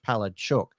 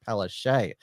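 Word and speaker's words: Palaszczuk: closed before Anastasia petuk which is what we're told by uh polish Australians is the actual pronunciation of her name in Polish palad chuk but she told she's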